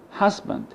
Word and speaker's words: husband: For example, the word husband, husband. As you see, the first syllable is stressed, but the second stress, which contains the schwa sound, it's not stressed, it's unstressed.